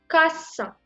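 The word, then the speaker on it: касса: Il faut toujours prononcer comme S, pas comme K. Ka-sa. Kassa.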